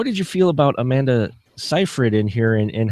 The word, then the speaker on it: Seyfried: I mean, as you said, Amanda Seyfried's character, and I always mispronounce the name. But I always it's Seyfried, and I only know that because I spent 20 minutes.